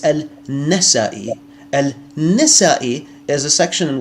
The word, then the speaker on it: Al-Nasai: Al-Fadi, his name is not Al-Nisai, it's Al-Nasai.